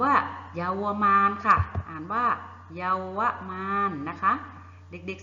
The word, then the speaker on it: เยาวมาลย์: นะ คะ คำ ว่า เยาวมาลย์ ค่ะ อ่าน ว่า เยาวมาลย์ นะ คะ เด็ก ๆ สังเกต ดู คำ นี้